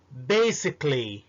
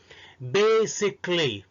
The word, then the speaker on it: basically: أول مثال basically، وبالمناسبة basic S مش Z، ما بتتنطقش Z هنا. basically، اوعى تقول basically.